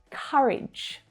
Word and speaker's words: courage: Courage. In the word courage, we use the A as in up vowel sound.